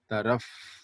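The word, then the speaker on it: तरफ़: Now you should pronounce f, okay? Taraf, okay? Not tarap, tarap, okay?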